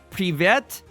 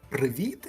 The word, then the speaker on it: Привіт: Privet I dyakuyu. How's my pronunciation? Well, hello and thank you. Amazing. Yeah, hello. It's actually Привіт in Ukrainian.